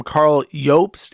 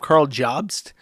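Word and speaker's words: Karl Jobst: when people call him Carl Yops instead of Carl Jobs, even though that's how it's pronounced because it's a Germanic name.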